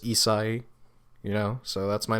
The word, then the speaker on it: Isahi: My name's Isahi, or Isahi, however you want to pronounce it. People usually pronounce it Isahi because it's a little easier, and it's kind of like the Asian beer Asahi, but just Isahi, So that's my name.